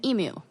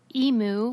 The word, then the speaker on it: emu: they are um and apparently npr decided to allow their journalists to pronounce it in the american way which is how i say it which is emu like like a cow emu and yeah i never